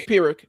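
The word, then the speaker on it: Pyrrhic: The way it looks like I mean p y rr. It's it's pirick. It's a pirick victory.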